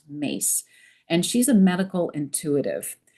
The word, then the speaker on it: Myss: Her name is Carolyn Mace. Her last name is spelled Myss, but it's pronounced Mace.